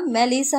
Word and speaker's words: মেলিসা: আশেপাশের পরিস্থিতি আর চোখে বোঝার চেষ্টা করে কিছুটা চিৎকার করে আদনান বলে এই মেলিচার বাচ্চা ওটা মেলিচা না মেলিসা হবে মূর্খ কোথাকার।